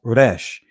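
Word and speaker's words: resh: The next letter is the raash. In the Israeli language is pronounced rash.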